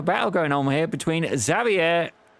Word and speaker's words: Xavier: going on here between Xavier. Xavier. We don't pronounce the R, apparently.